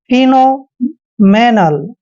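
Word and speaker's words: phenomenal: दिक्कत वाली बात नहीं पीएच का उच्चारण हमेशा फ करते हैं और ई को ई की मात्रा पढ़ते हैं एन को हमने न लिखना है ओ को ओ की मात्रा पढ़ते हैं फिनो क्लियर फिनो और एम का उच्चारण मैं करते हैं और ई को ए की मात्रा पढ़ते हैं एन ए का उच्चारण न करेंगे एल को ले पढ़ेंगे फिनो मेनल फेनोमेनल होता है दोस्तों एक तरह से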